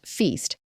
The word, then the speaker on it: FYST: Well, the new Fred Young Submillimeter Telescope or FYST, pronounced Feast, sits at 18,400 feet above sea level.